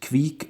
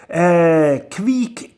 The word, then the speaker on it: Kveik: Kveik Cryo Double IPA, or Kveik, or Kveik. I mean, people pronounce it a little bit differently.